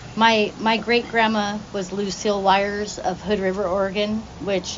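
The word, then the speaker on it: Wyers: His last name's Wires. I'm sure you can figure that part out. Wires is spelled W-Y-E-R-S.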